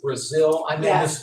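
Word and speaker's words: Brazile: Governor Christie and Donna is it Brazil did I say her name right yes and they they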